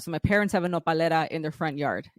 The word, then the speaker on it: Nopalera: So do you pronounce the brand as Nopal or it's Nopalera? So the brand is Nopalera, but the plant is nopal, and which is